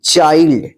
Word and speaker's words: child: CHILD, चाइल्ड।